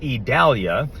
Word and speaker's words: Idalia: storm down near the Yucatan Peninsula it is pronounced Italia and it is a tropical storm it's sort